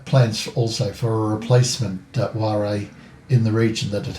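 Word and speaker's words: whare: I copied the name down, and again I'm going to be apologising in advance for the pronunciation. That building is what they refer to as a ware, W-H-A-R-E, which is like a communal meeting house.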